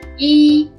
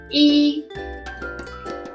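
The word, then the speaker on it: 一: The first one is the most commonly used one, which is yi, yi, yi.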